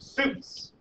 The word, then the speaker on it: suits: It's spelled sweets, kind of, but it's pronounced suits.